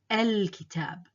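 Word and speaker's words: الكتاب: The first one, al-kitab. Al-kitab. So I pronounce the Hamza here.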